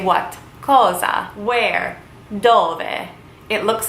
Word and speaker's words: dove: Dove. It looks like it is spelled dove, but you would pronounce it dove.